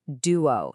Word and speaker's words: duo: The answer is duo, spelled D-U-O. Let's practice this to get the pronunciation absolutely perfect.